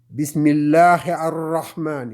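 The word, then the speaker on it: بسم الله الرحمن: Et en ce moment, le a, puisque le lam n'est plus là, le a est collé avec le ra. Donc, c'est arra. Bismillahir-Rahmani.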